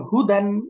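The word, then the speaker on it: هدى: যেমন হুদান, এই যে শেষের আগের অক্ষরে খারাপ একটা ডটলেস ইয়া আছে, আলিফ মাকসুরা, ওইটার কোনো উচ্চারণ নেই, তো এই জন্য এটা পড়তে হবে ওয়াকফ করলে হুদা।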